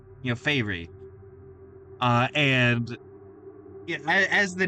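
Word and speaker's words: faerie: Uh, spelled like f a e r i e. You know, fy.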